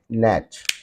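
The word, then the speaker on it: gnat: notice such condition then you'll have to keep the Silent Sound of G letter Silent Sound of G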